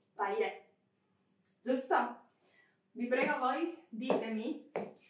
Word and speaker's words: paillette: Sicuramente è una parola francese. Sicuramente non devo pronunciare la T finale, quindi paillette.